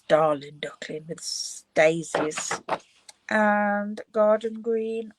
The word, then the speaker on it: Darling Duckling: I keep calling it daring duckling, but it's darling duckling with daisies and garden green on the back.